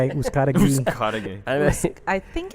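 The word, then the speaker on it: Uzcátegui: How do you now. say it? right? I say Uzcategui.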